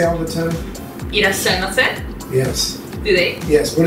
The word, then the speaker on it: いらっしゃいませ: いらっしゃいませ Yes. Do they? Yes. What does that mean again? Welcome. いらっしゃいませ。 Yeah. Wait, how do you say it one more time? いらっしゃいませ。 Yashimase?